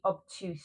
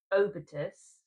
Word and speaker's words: Obitus: Now the next one is, this one is, as I kept calling it, the obtuse shade, but it's not called that. I was smart and actually looked at the pronunciation. So this is the Obitus, which is Latin for death, I believe.